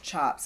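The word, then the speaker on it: tjaps: usually made out of chops which is spelled t-j-a-p-s and it's pronounced chops is what they stamp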